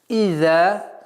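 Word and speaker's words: إذا: «Иза», буква «зай» межзубная, «за». И ударение в размере 2 огласовок.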